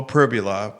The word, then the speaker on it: Pribula: Bo Pribula, I believe I'm pronouncing his name right. Yeah, that's correct. Okay. I checked, yeah. Thank you. Bo Pribula versus Chandler Morris from